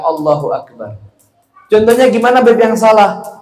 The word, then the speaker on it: Allahu akbar: apa adamul tasdidil Ba tidak boleh mentasdidkan ba dalam Allahu akbar contohnya gimana BB yang